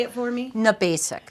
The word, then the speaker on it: Gnabasik: Gnabasik. Gnabasik. The G is silent. It's Polish.